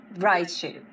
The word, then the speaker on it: Riahchuu: Riahchuu.